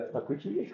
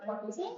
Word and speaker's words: Pacuche: ¿Cómo se pronuncia? ¿Pacuche? Sí, nomás. Pero pues aquí me dicen, como la primera de Pacuchi, ¿cómo le dicen? Sí. Por eso, o sea, ¿sí se dice Pacuche? Sí, sí, sí.